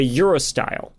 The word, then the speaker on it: urostyle: It's called a urostyle, which sounds like cool European dudes going to the club. Yeah. But it's not. It's not spelled with an E, so it's like just UROSTYLE.